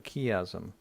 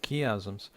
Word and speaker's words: chiasm: extensively, and that literary structure is called a chiasm. It is spelled C-H-I-A-S-M, chiasm.